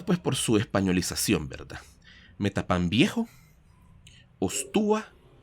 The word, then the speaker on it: Metapán: los mismos españoles buscaron españolizar, pues, esta palabra Metapán, que se empezó a llamar Metapas, posteriormente San Pedro Metapas, luego Metapás con acento en la última A, y por último se